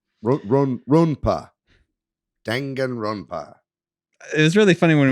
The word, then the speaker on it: Danganronpa: They showed off, I can never say this one, and Danganronpa, however you say that. Danganronpa. Ronpa? Ronpa. Danganronpa.